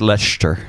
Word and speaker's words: Leicester: times, enough that I would go, oh, that's Leicester Square, right? Yeah. Yeah, okay. I was so hoping I didn't screw that one up. It's actually pronounced Leicester.